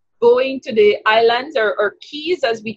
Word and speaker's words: Caye: to the islands or Keys as we call it yes they're spelled see ayes they're pronounced as like a key so I'm going on